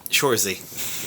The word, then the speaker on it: Saoirse: Cersei. I said it right earlier once, and I can't remember. That was Saoirse. Shorzy.